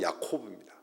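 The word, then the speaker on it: יַעֲקֹב: 야곱이 야복강에서 씨름을 했다라는 말 히브리어로 발음하면 야곱은 야코브입니다.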